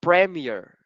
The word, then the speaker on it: premiere: so uh like okay it's like might be pronounced Premiere okay I'm sorry I I was saying this would like letter e all right premiere okay